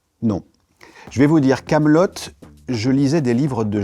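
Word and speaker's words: Kaamelott: Mais je me on s'est rendu compte en fait que beaucoup de gens disaient Camelot. Les deux T de la fin de Camelotte sont juste là pour empêcher les gens de le prononcer Camelot.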